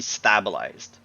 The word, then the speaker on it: stabilize: The root word is stable with an E on the end, making it a long A. Then you add the suffix of IZE.